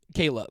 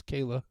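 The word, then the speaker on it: Kier-La: is it actually pronounced Kayla Kayla yeah it's spelled k i e er- l a but apparently it's pronounced Kayla she even talks early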